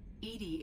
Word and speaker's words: EDI: why are you named Edie Edie is the phonetic pronunciation of EDI and that is an